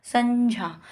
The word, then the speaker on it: संज्ञा: उस हिसाब से इसका जो उच्चारण स्थान होगा वो क्या हो जाएगा? संज्ञा।